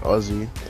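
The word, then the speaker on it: Aussie: that's how we get Ozzy but it's actually with an S but it's pronounced with a Z yeah you do there's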